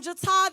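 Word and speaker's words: J'TA: Okay, so like Lexi said, I am Jata. That is spelled J apostrophe capital T capital A.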